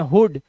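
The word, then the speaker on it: hood: मात्रा से पढ़ते हैं इसे पढ़ते हैं वुड वूड नहीं पढ़ते तो ये अपवाद है कुछ वर्ड्स जैसे इसे पढ़ते हैं हुड इसे पढ़ते हैं ब्लड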